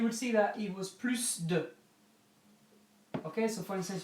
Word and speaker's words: plus: to answer the question P plus on his own you pronounce the S okay so if it's on the OWN on the own pronounce the S you pronounce the S of plus if it's followed by